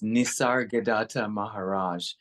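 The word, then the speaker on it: Nisargadatta Maharaj: whole life trying to get it right it's nissar gadata Maharaj um that's a it is I'm probably uh mispronouncing it still um however uh his particular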